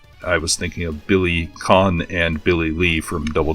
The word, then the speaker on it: Kane: Because his name isn't actually pronounced Kane like you would think, because he's got a cane. It's Khan.